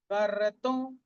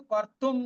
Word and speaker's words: कर्तुं: कर्तुं, আমরা কিন্তু কর্তুম বলবো না।